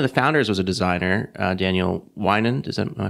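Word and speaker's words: Daniel Weinand: One of the founders was a designer, Daniel Winand. Is that am I pronouncing yes, that right?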